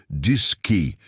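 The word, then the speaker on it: DSKY: Eles tinham uma interface chamada DSWI, pronunciada diski para display keyboard.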